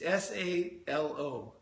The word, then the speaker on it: Salo: It's Salo. And some people pronounce it Salo, Paul, Salo.